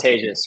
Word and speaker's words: Tejas: a countdown okay it goes live it is pronounced tagious right yeah you got it okay we're live